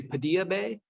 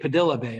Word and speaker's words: Padilla Bay: there's a place called, it looks like if you were pronouncing it like a Spanish name, you would say Padilla Bay, but they say it Padilla Bay up there.